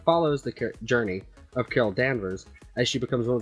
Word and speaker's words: Danvers: Is it Danvers? Danvers. Yes, it's spelled with an A.